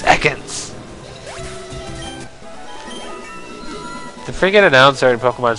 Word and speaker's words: Ekans: Stadium instead of Ekans it's eakins it's not Eagan it's Ekans the freaking announcer in